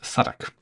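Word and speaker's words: Southwark: Now, Suffolk is spelled Southwick, but it's pronounced Suffolk.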